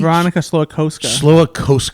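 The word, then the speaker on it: Veronika Slowikowska: Veronica Slowakowska. Slowakowska.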